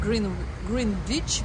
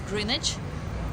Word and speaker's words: Greenwich: The W is not pronounced, so it's not Greenwich, but it's Greenwich.